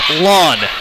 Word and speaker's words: Land: Maddie Land's last name is pronounced Lawn. I have been blowing it. I am sorry. As in the grass in your lawn.